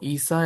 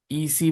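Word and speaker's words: عيسى: দেখো ঈসা এবং মুসা এই দুইটার মধ্যে কিন্তু আলিফ উচ্চারণ হচ্ছে। ইসি বলি, ইসি মুসি বলি আমরা, নাকি ঈসা মুসা বলি? আলিফ বলছি না, ঈসা মুসা, আলিফ উচ্চারণ হচ্ছে না।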